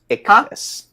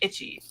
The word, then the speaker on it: Ichthys: Is that how you say it? I never say his name right. Ichthys. Ichthys. So like that. I apologize. I've always just called you like Itchy. Like Itchy and Scratchy.